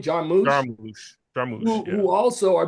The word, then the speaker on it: Jarmusch: And it also talked about Quentin Tarantino and Jim, how do you pronounce his name? Jarmusch, Jarmusch.